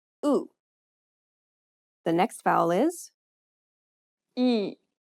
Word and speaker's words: 이: The next vowel is 이. open your mouth as if you were trying to show your teeth and say the letter E. Say it like the E in meat, but shorter.